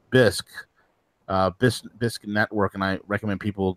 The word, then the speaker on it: Bisq: the build out of it, and organizations like BISC Network, and I recommend people go to check out BISC. That's spelled BISQ.